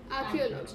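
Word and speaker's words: archaeology: the word is आर्कियोलॉजी right how ड we pronounce it again one ऑफ यू आर्कियोलॉजी ल right आर्कियोलॉजी इज the study of prehistoric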